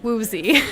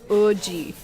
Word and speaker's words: Woozi: I would pronounce it Woozi. It's WOOZI from 17. The actual way you pronounce his name is Oji.